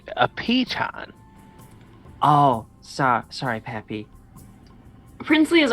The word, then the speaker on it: piton: But if It's pronounced a piton.